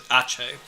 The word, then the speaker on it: Aceh: So I apologize for not pronouncing that correctly. This is Aceh.